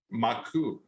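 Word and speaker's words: マーク: name is Mark but if you say his name in Japanese it would be what anyone Dragon maku right that that's how you say Mark in Japanese which is m a a KU and you flip those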